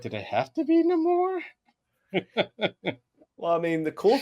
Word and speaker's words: Namor: Well, it's just placing the emphasis on a different part of the name, on a different syllable or letter. That's all it really is. I mean, it's the same thing with Namor, Namor. Yeah. I mean, if anything, Namor is just Namor with a Spanish accent.